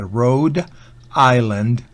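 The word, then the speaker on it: Rhode Island: Road Island Road Island Recuerden que Island la s no se pronuncia Road Island Vermont States estado sureños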